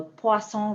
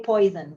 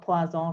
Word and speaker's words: Poisson: But please don't say poison, because that's definitely not how you read that.